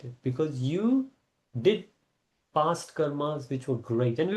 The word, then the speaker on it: karma: Yeah, Karma. that's called karma. But whether it's number one or number two, we will see next time. But the real pronunciation is karm. Because the Karma. British pronounce it like that.